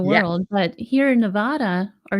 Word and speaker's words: Nevada: world, but here in Nevada, or Nevada is how they say it here.